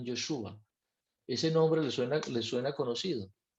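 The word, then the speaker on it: ישוע: Ustedes saben cómo se dice Josué en hebreo, se dice Yeshua o Joshua, sería más bien Yeshua.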